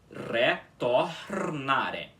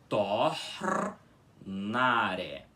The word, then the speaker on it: retornare: Então fica aí, retornare. Enquanto esse último R da palavra, que fica entre duas vogais, fica com som de R, mais fraco, ok?